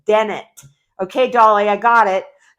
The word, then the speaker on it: Dennett: It's Dennett.